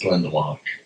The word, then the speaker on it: Glendalough: pronounce it as well, because it doesn't look like that on the page. It's Glendalough.